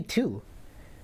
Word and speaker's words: two: How do you say two? Two. No, just two. Two? You don't. Two. No, you don't pronounce the Two?